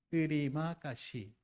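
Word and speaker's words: terima kasih: 뜨리마 까시라는 뜻이에요. 이게 감사합니다는 뜻입니다. 알파벳으로 되어 있고요. 인도네시아고요. 발음 나는 대로 읽어요. 뜨리마 까시 이게 땡큐 감사합니다라는 뜻이니까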